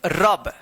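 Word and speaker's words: rub: रब।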